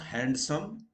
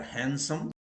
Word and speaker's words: handsome: A boy or a man is not handsome, they are handsome. Or somebody gets a handsome salary, not handsome salary.